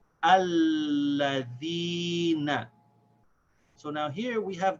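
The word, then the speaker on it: الَّذِينَ: Hamza al-Wasl here is the first letter, so we connect it to this lam, and we pronounce it with the fatha.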